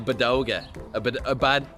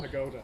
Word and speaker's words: pagoda: What did I call it yesterday? Bodega. Pagoda. Shame. Yeah, anyway, so there'll be a nice padoga going over this as well. Pagoda. Am I still saying it wrong? Yeah. What am I? Padoga. I'm from the Dublin though. Pagoda. What's it called? Pagoda.